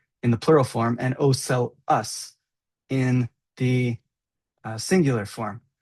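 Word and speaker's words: ocellus: So they're the pronounced oeli is pronounced oeli oeli in the plural form and oel us in the uh singular form.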